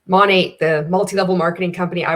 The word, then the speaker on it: Monat: stands for modern nature technically you're supposed to pronounce it Monet but I mean who cares everybody knows when you say Monique monat people understand when I